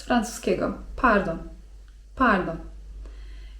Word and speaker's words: pardon: Z kolei słówko 'przepraszam' to: pardon (czyt. pardon) Z francuskiego: pardon (czyt.